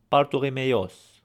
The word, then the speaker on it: Bartholomeos: Now one thing about pronunciation in Armenian, especially names, most of the time the accent is going to be on the last vowel. For example, Bartholomew would be Bartholomeos or Ropovam.